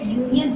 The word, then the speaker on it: union: Once again, you are going to pronunciate union with U, not with A.